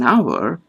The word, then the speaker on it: hour: When we say an hour, although the spelling starts with the consonant H, the vowel O is dominant and H is silent. Hence we say an hour.